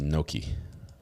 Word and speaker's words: gnocchi: but we don't know pronounced Noki silent it's Italian Chris Ms uh welcome